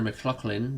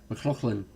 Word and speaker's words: McLaughlin: so we'll see how connor mclachlan does i didn't pronounce that correctly mclaughlin i've been paying a